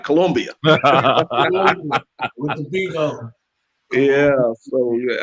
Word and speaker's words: Colombia: I'm gonna say it right, Colombia.